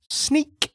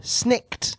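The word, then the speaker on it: snikt: His claws didn't go snicked when they came out. Ah, yeah. That's a shame. I didn't notice that, but now I realize I'm sad. It was sneak as opposed to snicked.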